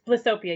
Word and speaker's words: Blissopia: It's Blissopia.